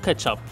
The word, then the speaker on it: kê-tsiap: I pronounce it "ketchoop", but the original Asian name was "kê-tsiap" As in "catch up" Ketchup/catsup is ready We've